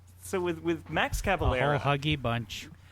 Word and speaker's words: Cavalera: Is it Cavalera? I've been calling him Calavera this whole time. I think it's Cavalera. That's how I've always pronounced it, but maybe I'm wrong.